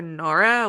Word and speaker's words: Nora: Leonora they can just call her Nora which rhymes with Dora that was not intentional